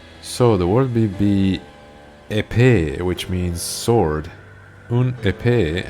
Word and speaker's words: épée: So the word would be épée, which means sword. Un épée, and the plural is épée. Once again, you don't pronounce the S at the end, right?